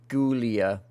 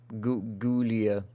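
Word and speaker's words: Giulia: tiptoe by the window Julia ID pronounced like GIF gulia gulia uh this outfit fantastic finally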